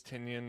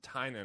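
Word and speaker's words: Tynion: it was awesome uh James tenyon is one of the writers Margaret Bennett's the other one but I know James tinan actually is how it's pronounced James tinan uh he's a very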